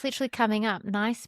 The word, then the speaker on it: Nice: Nice biscuit. But I think it's pronounced niece.